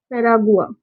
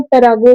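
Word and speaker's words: Paraguay: पैरागुआ को हिंदी प्रोनाउंसिएशन ऐसा ही होता है और इसको इंग्लिश में पैरागुए बोलते हैं ना। क्या बोलते हैं इसको? पैरागुआ या तो फिर पैरागुए, हम लोग कुछ भी प्रोनाउंसिएशन कर सकते हैं इसका।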